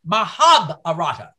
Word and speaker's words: Mahabharata: and thanks to joyce anderson it's now it's pronounced mahabharata slave was pronouncing the hindu classic wrong it